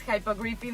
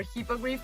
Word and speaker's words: hippogriff: I always get confused with the pronunciation if it's hippogriffin or hippogriff, but I think it's hippogriff. Correct me if I'm wrong, please.